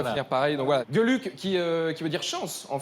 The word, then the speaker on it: Geluck: D'ailleurs, est-ce qu'on dit Gueluc ou Gueluc? Gueux. Gueluc. Gueux, D'accord. on le prononce à l'allemande comme Gestapo.